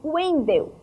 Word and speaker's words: Wendel: E já o Wendel se escreve com W, mas o som é de U, Wendel.